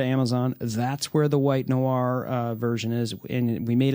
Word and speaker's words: noir: the Shure MV7 white noir, the white buffalo, the white whale, the white unicorn. No, it's the white noir, not the white no-ire, or a lot of people, they don't know how to pronounce that, Jim.